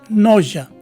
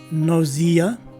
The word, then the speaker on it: nausea: Now, as far as I have observed, the third variation, which is pronounced as nausea, is what's commonly used by both Americans and Canadians. So this word is pronounced as either nausea, nausea, or nausea.